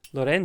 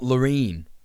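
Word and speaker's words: Loreen: again that year interestingly Loren did meaning the next Eurovision would be hosted in is that how you say it Lauren not Laureen Laureen it's Loren Sweden and Sweden went all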